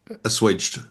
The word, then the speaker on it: assuaged: For example, uh and it says not that this has asued, is that how you pronounce it? Assuaged.